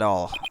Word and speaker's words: awl: No, not owl. All.